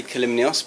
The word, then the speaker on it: Kalymnios: So my name's Kalymnios, pronounced Kalymnios. It's a tricky one to pronounce.